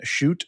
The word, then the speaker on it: Chute: Joining me today, Shute of Wizard of Ads.